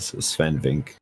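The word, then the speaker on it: Swen: I don't think you pronounce the E at the end. Sven.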